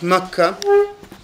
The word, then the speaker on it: Makkah: them was that he'd stayed in mecca which we pronounce in arabic makkah he'd stayed 10 or